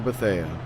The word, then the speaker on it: Bethea: Have I been saying his last name wrong the entire time? Wouldn't be surprised on that. Almost, I believe I was saying Tanner Betha, but if it is Bethea, apologies to that.